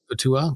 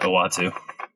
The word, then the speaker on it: Uatu: I say Utua. I never could pronounce the big cosmology.